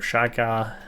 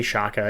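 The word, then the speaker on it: Xhekaj: Caden Gooley, Justin Barron, Arbor Shaka, I think is how you say it. I say it wrong all the time. I'm going to say Shaka.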